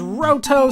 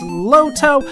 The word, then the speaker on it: Loto: Yeah, some people translate it as Roto, some translate it as Loto. I believe that it's the liquid consonant, which means that it should be pronounced Loto, or Loto. Like, it's almost like a D when you do it.